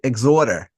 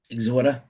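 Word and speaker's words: Exhorder: Nick, that actually it if you say it right, it's how like New Orleans people actually talk. They say exhorter. Exorter.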